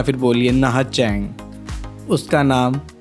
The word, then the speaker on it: Nha Trang: तो लिखने में ये नहा ट्रैंग है, लेकिन वहाँ के लोग इसको प्रनाउंस करते हैं नहा चैंग।